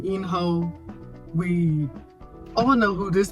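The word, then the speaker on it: In-ho: And after the first vote, this is where we are introduced actually into the character himself, Enho. Sorry, I pronounced it wrong the first time. Enho.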